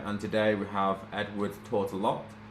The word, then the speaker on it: Tourtellotte: And today we have Edwards Tortola. Pronounce that right?